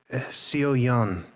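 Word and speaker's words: Seoyeon: My name is Sio Yan. You would spell that.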